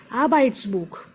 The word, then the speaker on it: Arbeitsbuch: Arbeitsbuch, Arbeitsbuch. Three syllables, stress on R, Arbeitsbuch.